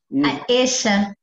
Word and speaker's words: Aisha: Como é que se pronuncia Aisha? Eixa. Eixa, óbvio. Tem a tua mãe chegando ali, Eixa?